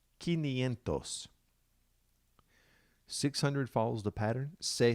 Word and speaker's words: quinientos: change to them so 500 is not cinco sientos it comes from the latin root which begins with q u so it's ki nientos quinientos 600 follows the pattern